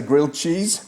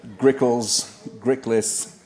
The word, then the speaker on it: Griliches: I think they'd all come and knock on the door and say things, Professor Grilled Cheese. That was my favorite, grilled cheese, but Griliches, grilled, at the end of which